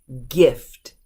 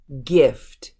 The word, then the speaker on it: gift: these are the exceptions it's not a soft G it's a hard G so let's look at how they sound with an American pronunciation Tyger Tyger get get girl girl gift gift gear gear gecko gecko